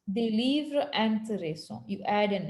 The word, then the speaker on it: intéressants: Same like un livre intéressant, des livres intéressants, because we never pronounce the S.